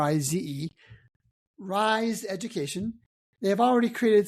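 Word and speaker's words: Rize: It's spelled R I Ze. Rise Education.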